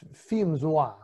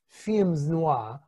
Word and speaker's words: films noir: the correct pronunciation is femzwa it there is the s it's film themed films noir but if you think